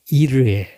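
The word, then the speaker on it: יִרְאֶה: 맨 위칸 엘로힘 이르에 로 아브라함이 했던 말입니다. 엘로힘 이르에 우리는 그냥 여호와 이레 하는데 원래 히브리어 발음은 이르에입니다.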